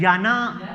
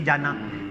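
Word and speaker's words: Jana: तो हाँ जी, हेलपिनो आप देख लें, या आप वो हमारी जो दोस्त थी, अब याना उसे कहते थे, मगर स्पेलिंग उसके जे से थे, जाना।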